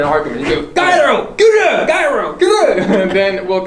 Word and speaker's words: Kyrö: For relaxing time, make it Cairo. Cut! It's pronounced Kura!